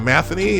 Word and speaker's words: Matheny: welcome to Royal new Royals manager Mike Matheny that's how you say his name he's from moving over from I think st. Louis all right per league source the Royals have hired Mike Matheny has their next manager